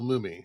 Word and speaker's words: Mumy: restaurant that's actually uh Bill Mumy or mummy I can never say it right Mumy yeah from the original who plays